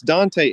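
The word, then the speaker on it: Dantès: really read French but it's spelled da with an accent mark a and ta so it's Dante and this guy gets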